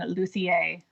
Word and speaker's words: luthier: people insist on saying Lussier because they're fancy and I think that's the Italian Way of pronouncing it is it I had